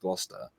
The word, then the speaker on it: Gloucester: were going glow Chester a shire no there was no sure on the end of it by the way it was just Gloucester the one thing the